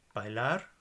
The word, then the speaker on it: bailar: on the end espanol bailar which means to dance so it's ended with an R therefore the heart the stress is on the last part of the word estoy which is a